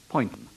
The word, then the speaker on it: Poynton: And sitting beside me in this armour-plated referee's booth as scorer and adjudicator is once again the BBC's pronunciation advisor, Graham Poynton, pronounced Poynton.